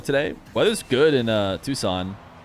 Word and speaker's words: Tucson: Why is it Tucson and not Tuck Sun? Uh cuz it's Spanish, I assume.